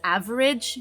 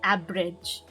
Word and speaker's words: average: with the b sound so that's why when she says average she says abridge average i am an average student and then and then she said average so she tried to pronounce it again but she she failed pronouncing the v sound again instead what happened is that she affected this the section here where now she says abba rage aberrage with the a long a sound and this one tells